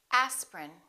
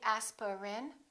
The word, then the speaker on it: aspirin: a list of words each one of these words contains one vowel one syllable which is not pronounced look at these words and repeat after me aspirin don't say aspirin say aspirin evening evening